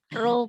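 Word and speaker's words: rho: Ada yang tahu bacanya? P, Bu. Oh, Ro, Bu.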